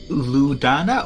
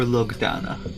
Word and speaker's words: Lugana: Luke, is it Ludana or Lugana? Lugana. Lugana. Yeah.